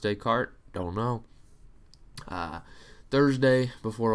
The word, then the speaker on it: Descartes: Warehouse and Descartes MH really it's de deart decart if we're pronouncing it properly but do you think it's pronounced day cart don't know uh Thursday